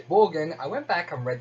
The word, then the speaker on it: Borgin: Slight side note here, I used to pronounce his name Bjorn in my head, and then I found out his name's actually Borgin.